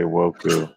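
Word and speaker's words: ウォーク: So to say woke in Japanese, you'd have to say woku Oh, that's interesting. because Oh, okay. Japanese, they're all syllable sounds. There's no like single consonant sounds. So that first one says wo and the second one says ku.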